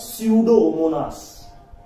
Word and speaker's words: Pseudomonas: example is a pseudomonas pseudo starts from p but p is silent here it is known as pseudomonas it is pronounced as pseudomonas pseudomonas is an example